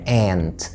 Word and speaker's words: aunt: يمكن في البريطاني ليها نطق مختلف، لكن في الامريكان انجلش بنقول عليها aunt، aunt.